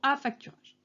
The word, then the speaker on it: affacturage: Alors pas en deux mots, la façon dont je l'ai prononcé, c'est l'affacturage, ou plutôt affacturage.